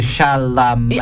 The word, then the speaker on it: Chalamet: It's the Chalamet.